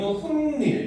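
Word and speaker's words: 훗일: 그다음 후일 뒤에이 뒷닐을 이제 우리는 훗닐 이렇게 발음합니다. 그렇죠?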